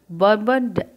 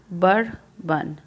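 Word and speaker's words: Bourbon: Louis 16 ऑफ द बर्बन family. इसका pronunciation देखो ऐसे करना, बर्बन। ओके, बर्बन, बॉर्बन नहीं करेंगे, बर्बन।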